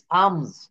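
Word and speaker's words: alms: এ এল এম এস, আমস, ভিক্ষা। পি এ এল এম, এটা আমরা প্লাম বলতে পারবো না, আমরা এটা সঠিক উচ্চারণে বলবো পাম।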